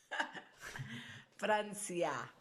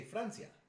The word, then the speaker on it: Francia: Francia. Oh, look, in Spanish, you see, you don't say France, you say Francia.